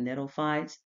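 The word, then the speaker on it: gnetophytes: This G is silent, netophytes.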